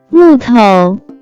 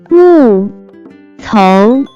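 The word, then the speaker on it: 木头: Next vocabulary that we have is wood, timber, which in Chinese can be pronounced as 木头，木头，木头。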